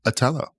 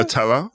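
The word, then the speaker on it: Othello: Atello. That's how they do. Yes. In the in theatra. In theatra. I've never heard the hard T.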